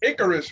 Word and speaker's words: Icarus: Icarus, right? Am I saying it right? Icarus? Yeah, it's Icarus.